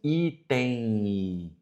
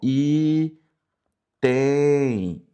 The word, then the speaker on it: item: Quando nós falamos assim, item, item i, veja que o m ele se transforma num i, ó.